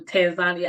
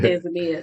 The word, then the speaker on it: Tanzania: wait to get to Tanzania I just learned that that's from you that that's the correct way to say it not Tania so okay thank you